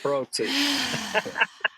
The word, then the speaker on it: Trotti: You're supposed to say it Trotti.